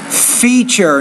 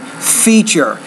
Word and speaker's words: feature: 13 future Fisher feature notice the TU is actually a CH sound feature so you can also